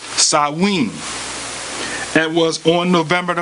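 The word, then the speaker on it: Samhain: Feast of dead or called Sam Hayne pronounced sawing and was on November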